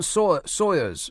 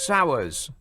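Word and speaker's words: Sawers: Former MI6 chief, Sir John Sawyers. Sawyers. S A W E R S Sourers. No, no. Sawyers probably. Is that how you say it? Sour. Sawyers. Because it looks like Sour.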